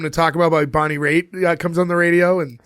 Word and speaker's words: Raitt: It's Raitt. Raitt. Like Wait, it's Riatt.